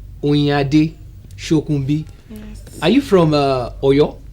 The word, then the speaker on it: Oyinade Shokunbi: Let me try pronouncing. Oyinade, Shokunbi.